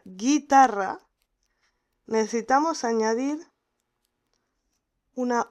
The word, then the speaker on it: guitarra: Para pronunciar guitarra necesitamos añadir una U en el medio, en el centro, y esa U no la vamos a pronunciar, porque no decimos guitarra.